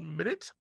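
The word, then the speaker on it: Minit: there that I thought was really cute called minute uh spelled not how minute is spelled it's spelled like m i n n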